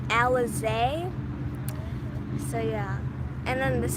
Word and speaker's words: Alizé: you say your name so my name is pronounced alizée so yeah and then